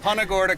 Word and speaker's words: Punta Gorda: We've been saying Punta Gorda. Punta Gorda, come down here, fish with Jay.